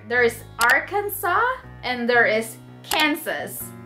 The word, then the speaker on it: Kansas: So earlier there's Arkansas and there is Kansas, right? You see the spelling, so it's almost the same, but it pronounced differently.